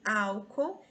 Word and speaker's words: álcool: A palavra álcool, ela é uma proparoxítona. Se nós formos separar as sílabas aqui, deixa eu pegar a caneta. Nós temos aqui álcool. Todas as proparoxítonas são acentuadas, tá bom? Então, não é paroxítona, é proparoxítona, tá bom?